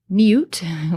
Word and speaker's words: niwt: There aren't a whole lot of words that are spelled niwt, which is how we would pronounce this in modern times.